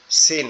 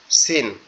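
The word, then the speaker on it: س: এটা এটা কি নোক্তা ছাড়া এটা হচ্ছে সিন সিন আমাদের জিহ্বার আগায় নিচের দাঁতের উপরে লাগবে লিখে আওয়াজ হবে সিন কিন্তু যখনই এটার উপরে তিনটা নোক্তা দিব তখন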